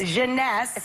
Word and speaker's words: Jeunesse: called instantly 8 ageless what's the company honey pronounce the Jeunesse genese sweareth baker and it's less than $75 retail